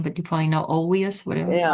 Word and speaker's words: Olweus: You know, that's the only I don't know how to pronounce that guy's name but you probably know Olweus whatever. Yeah, Olweus.